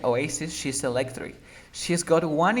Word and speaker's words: Oasis: Como en la canción de Oasis, de que se pronuncia Oasis, she's electric.